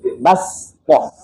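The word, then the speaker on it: بَسْطَةً: Kita membacanya dengan sin, bastoh.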